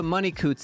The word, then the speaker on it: Money-Coutts: let me put this into perspective Miss Sophia money Coots here yep that's how you say her name